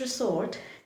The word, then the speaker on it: resort: The letter S in this word should not be pronounced with the sound S. Instead, this should be pronounced with the sound Z. Z. S. Z.